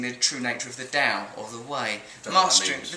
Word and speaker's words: Tao: Yeah, you've got to pronounce it proper, like a scholar. Tao.